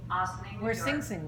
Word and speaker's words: Ossining: Ossining, Ossining, New where York.